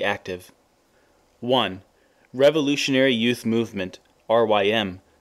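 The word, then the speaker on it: RYM: one revolutionary youth movement R ym pronounced like rhyme two workers organized to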